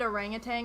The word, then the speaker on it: orangutan: Did you guys know that orangutan is another word that I put a G in? There's no G, and I can't like not say it like that.